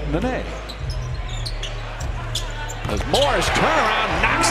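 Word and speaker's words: Nenê: They said Nene. Yet in the pronunciation guide, it's Nene.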